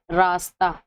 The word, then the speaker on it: راستہ: اور ہائے مختفی جس میں ہاں پتہ نہ چلتی ہو، جیسے دیکھیے راستہ، پروانہ، تو اس میں ہاں جو ہے وہ پتہ نہیں چلے تو یہ ہائے مختفی ہے.